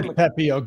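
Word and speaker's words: Pepiot: It is Pepio.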